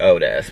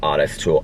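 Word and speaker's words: Ottis Toole: just said honest tool it looks like otis but it's actually pronounced oddest tool and henry lee lucas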